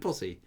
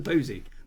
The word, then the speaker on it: posse: It's a posse, not a posy. How do you pronounce it? Is it posse? Posse? I don't know. Posse? Is it a posse? Or even the posy? No, it's not a posy. Definitely not a posy.